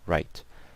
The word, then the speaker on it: write: so the word W-R-I-T, and obviously the E is silent, so write.